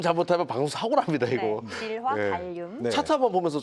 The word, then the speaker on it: 질화 갈륨: 지화 갈륨이에요.이 발음 잘못하면 방송 사고 납니다, 이거네. 질화 갈륨.